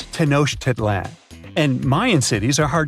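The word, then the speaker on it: Tenochtitlan: It's tanoshedan. And Mayan cities are hard to pronounce too.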